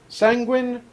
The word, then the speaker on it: sanguine: got nothing for it sanguine rhymes with penguin well it's only scribe that says sanguine or how the does he say it again it's yeah it's sanguine which then would rhyme with beijing but yeah it's sanguine well he says because but dispels your name he wrongs with penguin and yes it is sanguine is how he ends up pronouncing it he emphasizes the eu you know if i